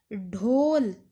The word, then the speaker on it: ढोल: देखो अब कुछ बच्चे ना इसको ढोल और ढोली बोलते हैं। पंजाबी में अगर हम इसे बोलेंगे तो इसे उच्चारण होना ढो, होता तो ये ड है, इसे बोला जाएगा ढोल।